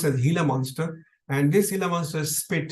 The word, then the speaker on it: Gila monster: bites by this particular reptile which is called hila monster is pronounced hila monster which written as Gila monster pronounced as hila monster and this hila monster spit had a substance